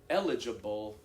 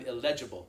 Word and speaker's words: eligible: I'm eligible for the scholarship, right? You'd be more likely to say I'm illegible, right? For that, right? Yeah, there. And that would throw me off. Not grammar, stressing the wrong syllable, I think.